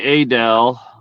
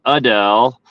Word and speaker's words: Adel: It's funny to hear you say Adel. We call it Adel. It just depends on what part of the country you're from, how you pronounce that A, I guess.